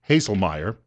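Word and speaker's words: Haislmaier: And then this writer, Edmund, and I guess the last name is spelled, well, it's pronounced Haselmeyer, says the program offered federal loans and grants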